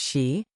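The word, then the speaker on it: sídhe: These were the city pronounced she, the hollow hills, the barrerows and tumuli that dotted the landscape.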